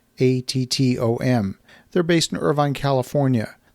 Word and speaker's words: ATTOM: There is a real estate data company called ATTOM. That's spelled like it sounds, but with two T's, ATTOM.